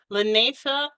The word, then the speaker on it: Lanacia: If you're wondering where the name to my small business came from, Lanesa is actually how you pronounce it, and it is my middle name.